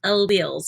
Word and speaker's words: alleles: so that is the vocabulary word and it's pronounced alleles even though it looks like a lilies or